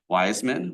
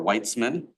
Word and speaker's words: Wiseman: His father is Rabbi David Wiseman or Whitesman. It's Wiseman without the T some people still pronounce.